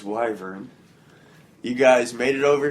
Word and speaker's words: wyvern: I looked up the proper pronunciation. It is wyvern. It's wyvern.